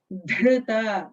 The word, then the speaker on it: Dhrita: Karuna Tarangitakshim Dhrita. That dha is a Mahaprana dha.